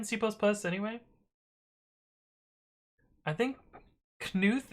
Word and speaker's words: Knuth: plus anyway i think knuth is pronounced with a hard k really i have no